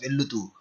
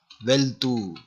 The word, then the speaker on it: వెళ్తూ: But in spoken Telugu we don't say like this, vellutu. We mix these letters, veltu. Okay, veltu, we combine, vellutu.